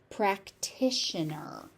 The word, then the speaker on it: practitioner: So we have a practition that t is heavily pronounced and aspirated. The next t turns into a shh sound because it's in an io n practitioner.